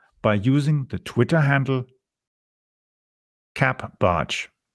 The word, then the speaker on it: capbartsch: You can follow me on Twitter by using the Twitter handle capbarge. It's spelled CAPBARTSCH. Yes, that is CAP barge, or spelled Charlie Alpha Papa Bravo Alpha Romeo Tango Sierra Charlie Hotel.